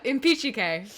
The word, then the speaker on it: Impicciche: Yeah, the CH makes a hard K sound in Italian.